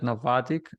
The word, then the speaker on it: Navattic: you are leading uh growth and operations at novatic and i i hope that i pronounced it correctly yeah you got it yeah